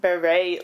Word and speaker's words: Barré: I think it's actually pronounced Barré Lyndon. Right, because it's got, the accent there. Yeah, on the E.